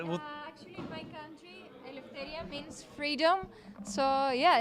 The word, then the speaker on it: Eleftheria: So, Eleftheria, am I pronouncing your name correctly? Yeah, you do.